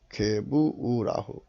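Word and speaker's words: גבורה: 발음은 게브라예요. 게부우라흐.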